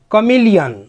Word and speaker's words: chameleon: CHAMELEON, कमिलियन, कमिलियन मतलब होता है गिरगिट, जो रंग बदलता है उसे कमिलियन बोला जाता है।